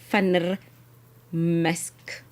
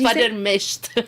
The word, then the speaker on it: van der Mescht: Owner of Debaba is Ansie van der Mesk. Did I say it right? Almost. It's van der Mescht.